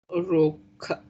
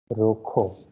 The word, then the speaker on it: rojo: Roca. Rokho. Rocos. Okay. Rokho. Okay. Kh sound is Rocco. again there for the letter J. So it is Rokho.